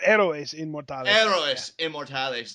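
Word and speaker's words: Héroes Inmortales: already it was a hero's immortalis 9 yeah arrow is in more time analyst immortalis not the well it's it's Spanish so you can't pronounce the h and ease always sound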